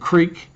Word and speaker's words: creek: we talked about the difference of how you pronounce between crick and crick, and creek, and crick and creek, and I'm going to just call